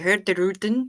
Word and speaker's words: Hurtigruten: Speaking of ships, a video where you talked about Hurtigruten popped up. Just wanted to say the G is silent, so if you say Hurtigruten, you will be a pro.